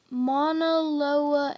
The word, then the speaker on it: Mauna Loa: You say them like this: Mauna Loa and Kilauea.